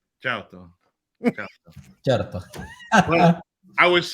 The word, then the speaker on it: certo: Well, it's it's a weird R that you pronounce. It would be like Ciao. certo, You say it. certo. You Char- gotta roll the R a little bit. Charto.